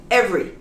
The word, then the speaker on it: every: how about this one every every the e practically disappears every everyone everybody everything